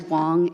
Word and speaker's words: Wong: Miss Wayne, council p uh President Griffin, my name last name is Wong and you know that very well. Please pronounce it correctly.